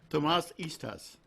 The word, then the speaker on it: Tamás Ittzés: name correct well let me hear you should pronounce it Tomas Easter's Tom Ashish too much each piece fish I